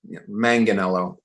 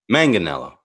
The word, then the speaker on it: Manganiello: Italy is Manganiello. And America's Manganiello. Manganiello.